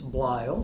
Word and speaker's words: Bleil: It's Bleil, so it has kind of an unusual spelling. But remember, it's pronounced like it rhymes with style.